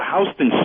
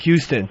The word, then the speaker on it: Houston: Hey, what about Hston Street right there? Hston Street in New York. Yeah. Smelled like Houston. Yeah. Uh named after the great Sam Hston.